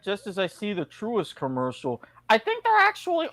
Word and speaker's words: Truist: Is it Truist or Troist? Truist. Pronounced phonetically, apparently.